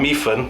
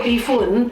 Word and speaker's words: mee hoon: And it depends what dialect you say, because we would actually call it tom yum mee hoon. Yes. Not mee hoon or mee food, how it's spelled H-O-N-N. That's Hokkien and Malay. Yeah, Hokkien people say beef hoon, but we in Mandarin and Hakka we call it mee hoon.